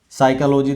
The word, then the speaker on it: psychology: साइकोलॉजी देख लीजिए, PSYCHOLOGY, साइकोलॉजी में PSY गायब, साइकोलॉजी हो गया, P गायब हो गया।